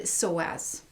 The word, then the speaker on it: psoas: there's really one important hip flexor called the psoas and that's spelled psoas and so i thought i could